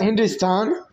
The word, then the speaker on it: Hindustan: Well, Hindustan pronounced Hindustan is found in Sanian inscription from the 3rd century CE.